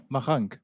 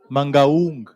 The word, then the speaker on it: Mangaung: Mahang. Mangaung.